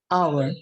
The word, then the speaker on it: hour: Untuk kata hour, tulisannya hour, tetapi dibacanya hour.